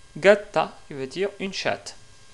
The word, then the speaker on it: gatta: Par exemple, pour ce mot-là, justement, qu'est-ce qui veut dire un chat, en italien, on le prononce gatto, gatto. Et le féminin de ce mot-là est gatta, gatta, qui veut dire une chatte.